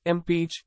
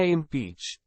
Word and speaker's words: impeach: crucial for natural pronunciation in impeach the stress falls on the second syllable say it with me